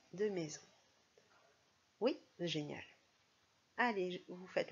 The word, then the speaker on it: maison: trouver le E de maison? Oui, génial. Allez, vous faites la deuxième syllabe. Zon, z, du coup. Oh ben ça y est, on a compris maintenant. Le z, je mets la lettre S.